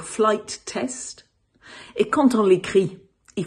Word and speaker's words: Flight Test: Quand on le prononce, il faut marquer une micro-pause entre les deux mots, donc flight test.